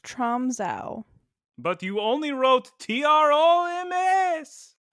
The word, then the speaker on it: Tromsø: It's pronounced Tromsø.